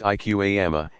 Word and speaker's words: iqama: In the infant's right ear and the invitation to begin the prayer, iqama, pronounced iqama, in the left.